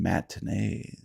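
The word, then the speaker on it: matinée: popcorn and Silver Screen matin which rhymes with mayonnaise despite Stellar lockpicking skills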